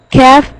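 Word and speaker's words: كاف: When hard palate touches to the tongue, when the deepest part of the tongue touches to the hard palate, kaf is pronounced.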